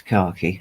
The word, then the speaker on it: khaki: of green as well khaki yeah when I'm British and it's khaki okay uh Eco says